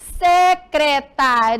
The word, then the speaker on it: secretaria: não não tem mas na hora de pronunciar Eu percebo que eu que eu pronuncio iria mais forte secretaria e secretária e também então é